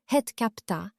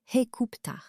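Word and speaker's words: Hut-ka-Ptah: Memphis, en égyptien ancien selon la prononciation conventionnelle acceptée dans la science, Het-Kapta, à en juger par les données babyloniennes, ce nom était en réalité prononcé Hekupta.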